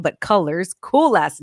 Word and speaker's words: Cullors: factor studio and i'm here live with arielle cooler colors coolest last name side note because i've been pronouncing it wrong but colors cool last name ariel how are you today